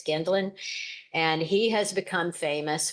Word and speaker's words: Gendlin: It's not Gendlin, it's Gendlin.